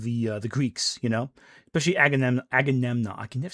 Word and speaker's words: Agamemnon: It's a Greece that's about to collapse in part due to the hubris of the Greeks, you know, especially Agamemnon. I can never say his name. Agamemnon.